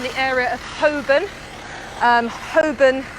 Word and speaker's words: Holborn: area of hoben um hoban not holborn don't the l is silent um you'll hear that